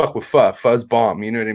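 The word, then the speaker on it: pho: People probably think it's fo, but it's that's how you spell fu. That's called fu.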